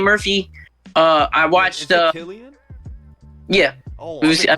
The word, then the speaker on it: Cillian: Is it Cillian? Yeah. Oh, I've been pronouncing his name wrong since 28 days later.